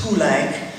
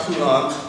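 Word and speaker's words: Poulenc: performers correctly for example francis pulank it's not poulon he didn't like that at all most lake people know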